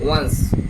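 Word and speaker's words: once: তারপর হচ্ছে ওয়ান্স মানে ওয়ান হচ্ছে এক, আর হচ্ছে ওয়ান্স এস এর মতো কিছুটা উচ্চারণ হবে শেষের দিকে, ওয়ান্স এটা হচ্ছে একবারে।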